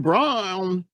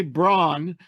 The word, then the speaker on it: Braun: the mixture when you go to say Braun which is the way his name is spelled and then you remember oh it's brown it becomes brown but anyway um you